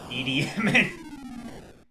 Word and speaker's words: Idi Amin: Idi Amin. I love how it pronounced that. That's exactly how that's pronounced.